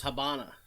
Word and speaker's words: Habana: It says Habana. I thought it was Havana. Well, it's like Havana. Brazil and Brazil. It just has a different Habana pronunciation.